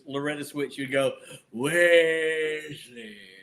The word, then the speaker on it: Wesley: You got the last name right, but his first name is Wesley. Well, you know why? The Weasley is kind of fun.